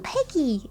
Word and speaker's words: Peggyx: I'm Peggy. The X is silent. So yeah, you can just call me Peggy.